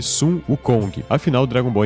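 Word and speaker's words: Sun Wukong: é pronunciado já que Son Goku é a pronúncia japonesa de Sum uk Kong Afinal Dragon Ball é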